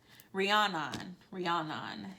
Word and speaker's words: Rhiannon: for the last one Rihanna is the pronunciation it says don't give